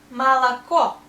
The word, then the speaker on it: молоко: The next word is молоко. Молоко, milk. O we pronounce only here, and these two O sounds like A.